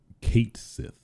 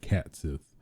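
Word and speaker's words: Cait Sith: of Final Fantasy 7 Fame which is um Kate Sith which uh has been confirmed to be the official uh pronunciation of Kate Sith technically I always said cat personally I always say said cat Sith um but technically according to square uh the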